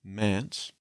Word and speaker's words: Mance: His first name, Mance, also sounds like the word manse, which is a house